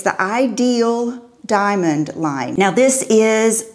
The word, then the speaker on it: idyl: this company it's idyl the way you pronounce it is ideal and it comes from the French word idyllic which means dreamy and peaceful